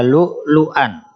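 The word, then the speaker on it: لؤلؤا: Tulisannya lu'lu'an, membacanya lu'lu'a. Nah, di sini hamzahnya dibaca panjang 2 harokat.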